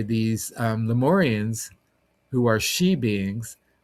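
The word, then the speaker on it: sidhe: the shining ones or we're called the she and it's spelled s i d h e the she. It's a Gaelic word.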